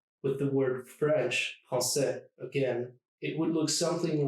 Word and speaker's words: français: Take the word French, français, for instance. Français. It's just 2 syllables.